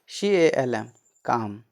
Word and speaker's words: calm: ठीक, CALM काम, CALM काम, काम मतलब शांत। PALM पाम, पाम मतलब हथेली। ठीक, कुछ वर्ड्स में एल का उच्चारण नहीं होता है।